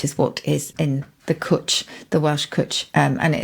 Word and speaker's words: cwtch: I would have pronounced the Welsh word quetch, because it's spelled like that, but is it not pronounced that way? No, it's definitely cwtch. Cwtch. To rhyme with butch. Butch, essentially. So, well, I can start